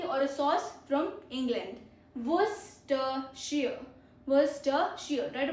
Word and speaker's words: Worcestershire: हाउ to pronounce English words that you find hard, almost 50. So first is Worcestershire.